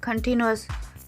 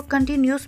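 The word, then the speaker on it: continuous: दोस्तों, बहुत ज़्यादा लोग जो हैं पाकिस्तान में इसको कंटिन्यूस बोलते हैं, जो कि गलत प्रोनाउंस किया जाता है। आपने इसको करेक्टली कैसे प्रोनाउंस करना है? कंटिन्यूस। स्पेलिंग भी आप देख लें, कंटिन्यूस। न्यूज़ तो यहाँ पर है ही नहीं। ओके, सो कंटिन्यूस बोला करें।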